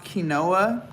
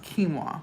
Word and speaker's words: quinoa: Kima y'all know it it looks like it's pronounced kinoa q i n o a but it's actually pronounced quinoa okay so quinoa has a lot of protein